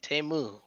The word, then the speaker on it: Temu: Temu.